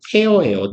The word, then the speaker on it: tear: tear예요, tear. 무너뜨리다죠. 무너뜨리다, 찢다 이런 말이죠. 그래서 눈물 할 땐 tear 이고 망가뜨리다, 찢다, 무너뜨리다 할 때는 tear입니다.